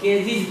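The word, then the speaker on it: cages: बाद एस आया है, इसलिए इसको हम लोग केजीज पढ़ेंगे।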